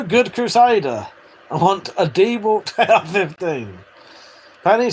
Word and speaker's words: DeWalt: When it comes to fucking telling me I'm wrong about fucking DeWalt, though, you fuckers who say Derwalt are wrong.